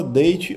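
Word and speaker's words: daith: Na data que eu gravo aqui, ela tá na moda. Eh, essa perfuração chama date ou da, né, na pronúncia um pouco melhor.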